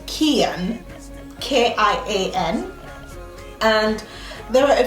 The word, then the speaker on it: Kian: So the way to pronounce his name is Kian, K-I-A-N, and there are a few reasons why we chose the name.